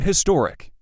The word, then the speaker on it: historic: I hate when Americans I am one say in historic. Stay with me here. In British dialects, the H in historic is like the H in honorable, so in historic is correct for them.